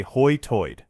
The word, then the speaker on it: high tide: Named for how speakers pronounce high tide. They say Hoy Toyid, preserved Elizabeth in English from the 1600s.